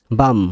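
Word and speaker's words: balm: এ এল এমন স্যামন মানে সমুদ্রিক মাছ ব্লেম বাম মানে মলম মলম বাম বাম বি এলম বাম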